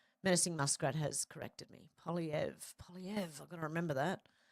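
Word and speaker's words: Poilievre: I heard it pronounced the other day, and I've been calling him what? Polyver? Oh, my God. Polyev.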